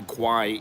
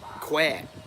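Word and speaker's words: Khwae: spelled it wrong because it is not the quiet in in in thai is that steve yes it is how you doing steve it is pronounced quad if you look at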